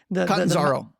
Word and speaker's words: Catanzaro: Yeah, and it must have been quite a revelation for, you said Brian, I can't pronounce his last name. Catanzaro.